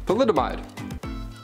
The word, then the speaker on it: thalidomide: so much trouble with is pronounced phthalidamide thalidomide thalidomide that makes more sense than